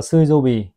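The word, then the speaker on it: 水曜日: Trong tiếng Nhật họ đọc là Suizobi, thì chính là thứ tư các bác nhá.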